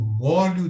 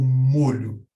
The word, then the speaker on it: molho: molhar, eu tenho o molho de um caldo, um líquido. Já a pronúncia molho possui uma origem diferente. Molho vem do latim manipulus, que significa um conjunto que pode ser agarrado com a mão.